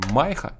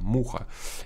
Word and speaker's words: MYHA: а мы считаем что это не майха читается Муха и я кстати напишу